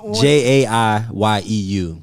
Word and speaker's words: JaiYeu: So how you spell it all one? JaiYeu.